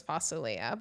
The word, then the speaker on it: fasulia: No, well, for our Syrian listeners, it's fasulia, but I'll... Well, what are you talking about? It's the green beans with the lamb and the tomato sauce. Okay, what did you call it? In Syria, it's fasulia, but I know in Lebanon, but what did